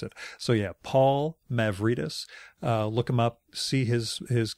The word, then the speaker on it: Mavrides: Mavrides is Mavrides. I always pronounced it Mavrides until the moment before we started recording when I asked him how to pronounce it. So yeah, Paul Mavrides.